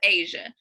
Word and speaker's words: Ajia: Yeah, but it's Asia, pronounced just like the continent.